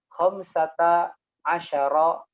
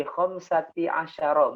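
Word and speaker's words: خَمْسَةَ عَشَرَ: Cara bacanya adalah mabniun alal fathi, ya. Jadi harokatnya tetap, ya, harokat fathah, ya. Harokatnya tetap. Ya, bi bukan bi khamsati asyara, bukan, tapi bi khamsatah.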